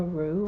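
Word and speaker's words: Roux: Jessica Rue, I think is how you say that.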